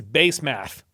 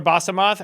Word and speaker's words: Basemath: Also, Basemoth. It literally reads base math. Also, never mind. That's the last time I call her Basemoth. Her name is Basemath now. If this name is in here, I'm calling it Basemath.